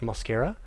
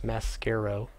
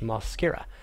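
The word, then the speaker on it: Mosqueira: an o in the with an O instead of an a that would be the first a not the second a which would be Josh Mascaro he is Josh moscara I was told that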